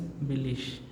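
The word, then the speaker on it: billig: But in German we have to pronounce it as billish, right?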